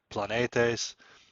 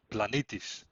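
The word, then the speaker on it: πλανήτης: is a Greek word planetes or if you want to pronounce it in a more Byzantine or modern Greek way it'll be blanitis and that quite simply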